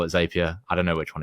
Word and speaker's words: Zapier: you guys call it Zapia. I don't know which one it is to be honest. It's one of them. It's I asked them. It's Zapier like happier.